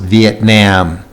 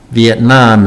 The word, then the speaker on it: Vietnam: V, this I, has an E sound, and this E has a short E sound. So that's what makes this word a little bit unusual. Viet, and this looks like Nam. Some people have pronounced it Vietnam. Vietnam is the correct pronunciation, I believe.